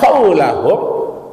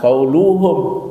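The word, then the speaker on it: قولَهم: Li'anna qaulahum, tidak boleh bacanya li'anna qauluhum. Kenapa? Karena ada anna. Setiap sudah anna, itu kalimat sesudahnya harus berbaris di atas. Maka tidak boleh dibaca qaulihim, tidak boleh baca qauluhum, tapi bacalah qaulahum menurut ilmu nahwu, ya.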